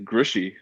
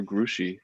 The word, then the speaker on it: Grouchy: around uh so it is in fact uh grishy or grushie um despite its spelling grouchy um i have